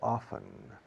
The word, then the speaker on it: often: Why does she come here so often? La palabra often, a menudo, frecuentemente, se puede pronunciar often o bien often. I think perhaps 30% of the English-speaking population says often, and 70% says often.